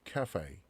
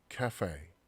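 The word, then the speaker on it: café: 자, 이것도 우리 카페 이렇게 읽지만 영어 발음은 자 cafe, cafe. 자, 에 발음이 난다는 얘기예요.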